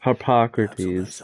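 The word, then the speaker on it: Harpocrates: Maybe fine I'll go and speak to Hippocrates Hippocrates that's how you say it and if he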